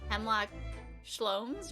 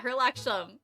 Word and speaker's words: Herlock Sholmes: It's not Sherlock Holmes, it's Hemlock Sholmes, right? Hemlock Sholmes? I forgot how it's spelled. But I'm pretty sure he's lying about his, yeah, Herlock Sholmes, thank you.